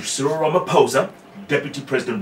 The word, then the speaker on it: Ramaphosa: You know, there's a really huge, fight between Cecil Ramaphosa and Ramaphosa. The H is silent.